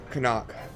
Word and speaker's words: Karnak: Karnak. So, yes, but wrong stress. Karnak.